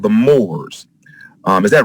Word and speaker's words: Moors: But there was a group of people called the Moors. Is that right, sir? Am I pronouncing that name correctly? Yes, sir. There were a group of people called the Moors, and the question I have here is, were